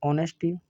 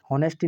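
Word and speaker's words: honesty: सबसे पहले आप लिखेंगे ऑनेस्टी नेस्टी नहीं पढ़ेंगे साथियों जहां एस साइलेंट रहता है ठीक है ऑनेस्टी उसके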